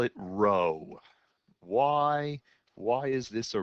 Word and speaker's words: rho: equals one so why do we call it row why why is this a row because it